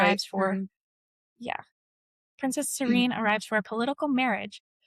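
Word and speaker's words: Sarene: Serene? Princess Serene That's right. arrives for, yeah, Princess Serene arrives for a political marriage, only to learn that he is supposedly dead.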